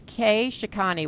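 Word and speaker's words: Kshikany: for a while so it's K shikani which would be k s h i k a n y That's the Twitter uh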